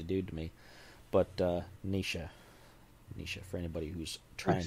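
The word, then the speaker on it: Naoise: the comments says that you pronounce it nisha rather than noise so that's helpful it doesn't look like that at all but gaelic can be like that but nisha rather than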